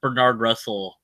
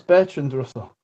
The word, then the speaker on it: Bertrand Russell: They asked Bernard Russell this. What Bertrand. Bertrand? I said it wrong. Bertrand. I've been saying names wrong this whole time. Yeah, I've caught you saying this before. It's Bertrand Russell.